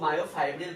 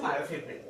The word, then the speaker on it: মায়োফিব্রিল: তো পুরোটার নাম হচ্ছে মায়োফিব্রিল বা কেউ মায়োফাইব্রিল বলেও ডাকে, অ্যাকচুয়াল উচ্চারণ হচ্ছে মায়োফিব্রিল।